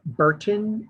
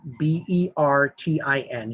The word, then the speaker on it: Bertin: It's Mark Burton, Bertin.